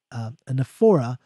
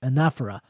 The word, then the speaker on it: anaphora: hope I'm pronouncing it right, because I keep mispronouncing it, anaphora, I believe is how you pronounce it, anaphora.